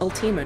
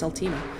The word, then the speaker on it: Ultima: shotgun nope how do you pronounce ultima you pronounce it ultima just like that it's it's ultima um ultima altima was kind of more of